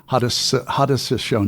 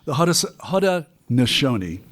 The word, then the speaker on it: Haudenosaunee: of Native American tribes called the help me pronounce it, Haudenosaunee. Right. Mm-hmm. Okay. I've been practicing it all day, and I still mess it up. The Haudenosaunee, and yet the formation of these colonies into